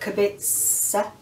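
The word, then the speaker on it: Kubica: Robert Cubica. That's how they pronounce it. It's Polish.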